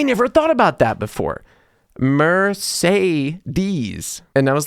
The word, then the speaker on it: Mercedes: I moved here was that Americans say Mercedes with three different sounds of e. I never thought about that before. Mercedes.